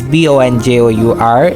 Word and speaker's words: Bonjour: It written as B O N J O U R Bonjour. But it pronunciated very differently like we pronunciate it bonjour. Bonjour. Listen it very carefully.